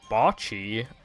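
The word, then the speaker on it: Bocchi: like when when the when people talk to her in the show they all say botchy like that so like how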